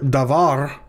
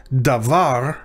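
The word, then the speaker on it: דָּבָר: in the hebrew word davar davar notice the stress is on the last syllable as it usually is in hebrew so the syllable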